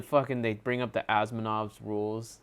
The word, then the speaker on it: Asimov: He's a part of the Asimov's law, or however you pronounce his name. Asimov.